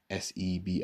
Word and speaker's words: Sebi: Sebi.